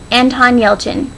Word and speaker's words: Anton Yelchin: It's the, Anton Yelchin. I'm pretty sure that's how you pronounce his name. It seems pretty straightforward with all of the letters.